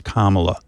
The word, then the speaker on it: Kamala: mispronouncing your name they they act as if they can't say comma it's not that complicated what what's going on what really is going on there when they can't pronounce Kamala is it supposed to